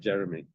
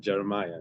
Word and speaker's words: Jeremiah: I said, "Jeremy." So he chuckled. He said, "Jeremiah, not Jeremy," because I knew the name, the nickname was.